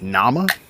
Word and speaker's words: Nama: Raw, I had to look up. I believe I'm going to say it wrong. It's Pepsi Nama is the actual word, but it's meant to be more natural, spices, etc.